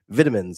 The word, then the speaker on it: vitamins: and get some free vitamins, as they say across the pond. Vitamins. Yeah. Is that real? Yeah, no, that's how they pronounce it often, like aluminium. That's how they say aluminum.